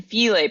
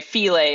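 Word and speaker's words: filé: Like you need that filet powder because there's just no other way to like get it. And by the way, filet is spelled like file.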